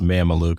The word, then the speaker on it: Mameluke: sales leadership is my company the name is pronounced mamalu is right behind me it's based off of